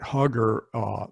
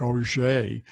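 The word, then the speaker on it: Huger: I say Fort Hugger, actually Hugger pronounced his name something like Auger.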